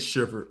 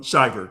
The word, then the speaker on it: Shiver: Because saying the wrong page. Shiver. Um, Shyiver, you're saying it right.